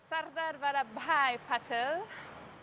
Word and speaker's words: Sardar Patel: if she could please give me the full pronunciation as it should be done sugata Sardar Patel International Airport in Amedabad namaste well namaste to